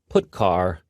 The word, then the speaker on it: putchar: They are pronounced: printf, putchar, and puts.